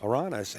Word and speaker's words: Aranas: Well, the majority said Aranas. Aranas, and it's not over yet. Don't take that wrong. And I have no horse in this race, I but think just by the fact that Aranas has been in just so going much to